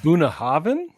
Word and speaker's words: Bunnahabhain: so first of all Buddha Haven doesn't have a v in it uh but in Gaelic stuff it's Buna Haven yeah yeah in Gaelic BH is pronounced V uh now you